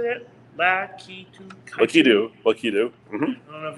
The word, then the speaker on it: Lakitu: Lakitu.